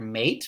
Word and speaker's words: mate: Here we have the word mate, but it'd be pronounced mat.